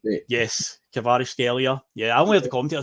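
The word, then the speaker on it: Kvaratskhelia: Natalie Winger that nobody can pronounce his name kavar scelia I believe it's pronounced yes kavar scelia yeah I only the commentator say it loads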